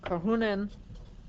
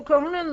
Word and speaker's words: Karhunen: Karhunen. Oh boy, now I have to spell that.